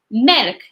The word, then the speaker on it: مالك: You have to press on your lips to get that sound right. مالك.